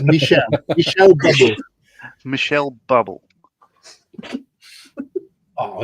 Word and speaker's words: Michel: is pronounced bubble and his first name is Michelle Michelle bubble Michelle bubble